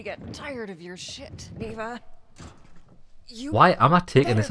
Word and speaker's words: Niwa: Niwa, that's how you pronounce it.